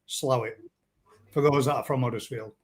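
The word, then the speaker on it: Slaithwaite: How I'll say how it's you grew up in Slafway, but it's pronounced slowit for those that are from.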